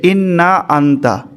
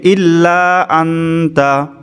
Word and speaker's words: ইল্লা আনতা: তারপর ওয়ালা ইয়াগফিরুজ যুনুবা ইল্লা আনতা, এখানে বানান হয়ে গেছে ইন্না আনতা, এখানে উচ্চারণ হবে ইল্লা আনতা।